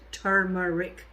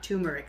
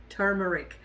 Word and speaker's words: turmeric: then you have the turmeric and you should pronounce it turmeric not turmeric like a lot of people do so it's turmeric and this has very anti-inflammatory properties and stuff